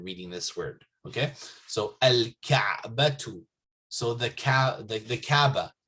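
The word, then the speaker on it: الكعبة: Okay, so al-ka'batu, So the Kaaba, right? So there's no shadda here. You don't say Kaaba, Kaabatu or something. No, al-Kaabatu.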